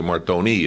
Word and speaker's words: Martone: heard stories that Martone is really Martoni in Italy, Yeah. but Martone here.